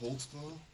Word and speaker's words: Holtzclaw: I'll let your name there because I don't even know how to spell it. I can How do you say your name? Daniel Holtzclaw.